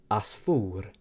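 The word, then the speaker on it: għasfur: Or we can say asfur, which means a bird. So once again, we have the letter ein, and a word example would be ada or asfur.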